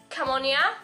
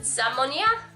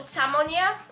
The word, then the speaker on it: Zamonia: And all his books take part in Camonia. That's how I pronounce it, but apparently you're supposed to pronounce it Zamonia. Something like that, or Samonia, something like that.